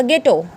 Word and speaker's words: ghetto: GHETTO क्या बोला जाएगा, गेटो, GHETTO, गेटो, ना कि गेटो। गेटो नहीं बोलेंगे इसको, H यहाँ पे साइलेंट रखेंगे, ठीक है, क्योंकि ये GH से स्टार्ट हुआ है।